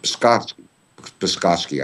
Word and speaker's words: Psaki: The woman who is the face and voice of the State Department, Jen Psaki, I think it's pronounced, almost on a daily basis, says that all Kiev is doing is a rightful attempt to restore law and order.